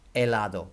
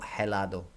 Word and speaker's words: helado: le lado de Fraser don't pronounce the H helado not helado 12 doth a is